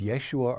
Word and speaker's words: Yeshua: The original pronunciation of his name was Yeshua or Yeshua, a derivative of the name Joshua.